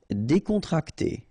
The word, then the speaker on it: décontracté: Décontracté. Okay, so you've got E accent aigu here and here, so it's E.